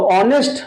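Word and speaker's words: honest: ही is dash article है, तो ऑनेस्ट pronunciation पे हम जाएंगे, ऑनेस्ट, तो और दिखाई दिया इसलिए हम यहां पे एन लगा लेंगे।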